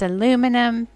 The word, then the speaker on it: aluminum: way i say aluminium it's a british pronunciation in america it's aluminum in england it's aluminium this is a blue